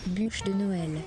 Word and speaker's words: bûche de Noël: Bûche de Noël. Okay, that's Bûche de Noël. So that's how you say bûche de Noël.